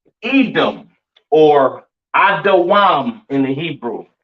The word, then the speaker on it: Edom: Pronounced Adawam in the Hebrew, all right? Edom, Adawam. Excuse me.